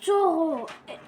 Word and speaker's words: taureau: Alors, combien de syllabes? Taureau. Oh oh. Combien de syllabes? 2. Deux. 2 syllabes. 2 syllabes. Alors, la première syllabe, to. La voilà. Qu'est-ce qu'on a tiré de to? Nous avons tiré Oh. o. La deuxième syllabe, c'est Oh. la deuxième syllabe, c'est Ro.